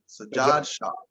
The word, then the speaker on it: Sajad Shah: It's like Saja or Sajad. Sajad Shah. Sajad Shah.